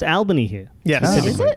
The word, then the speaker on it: Albany: But it is pronounced Albany here. Yes. Oh, is it? Yeah, they don't say Albany.